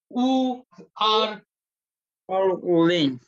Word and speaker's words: 五二零: And this one, let's pronounce it together. 五二零.